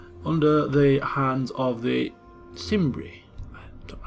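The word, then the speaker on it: Cimbri: the hands of the simri don't know how to pronounce it proun it with the soft sea Sim uh so that is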